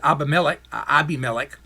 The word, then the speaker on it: Abimelech: Do you remember the pagan king Abimelech? Some of you may pronounce it Abimelech.